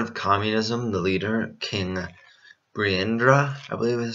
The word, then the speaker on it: Birendra: But with the threat of communism, the leader, King Birendra, I believe is how it's pronounced, agreed to transform the country into a parliamentary monarchy.